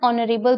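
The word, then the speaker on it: honorable: देखो लगा बेशक यहाँ पे कॉन्सोनेंट है, लेकिन ये साइलेंट है, दैट्स वाई यहाँ पे हम एन यूज करेंगे।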